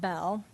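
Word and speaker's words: Beall: Now, recently, Senator I always call it Bell, but it's spelled B E A L L.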